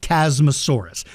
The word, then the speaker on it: Chasmosaurus: yeah see um so there's nothing wrong I pronounce it chasmosaurus it's name is spelled c h a s m o s a u r u s chasmosaurus chasmosaurus uh I just pronounced it chasmosaurus